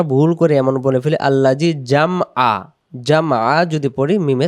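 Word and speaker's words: الذي: উচ্চারণ আল্লাজি আবার আল্লাজি এবং জিব্বার আগা থেকে পড়বো। যদি আমরা বলি আল্লাজি তখন এটা জালটা জিম অক্ষর হয়ে যাবে।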